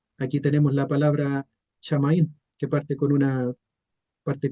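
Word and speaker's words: שמים: Después tenemos el artículo ja y aquí tenemos la palabra shamaín que parte con una parte con una chim, con la letra mem.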